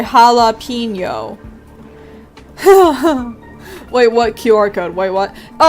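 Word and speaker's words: jalapeño: Like, obviously I know jalapeno is how it's pronounced, right?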